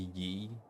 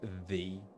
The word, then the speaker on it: ye: it should be pronounced the as in like in Shakespeare like the and thy to mean you. Um, so, so the Y was actually the symbol for the th sound.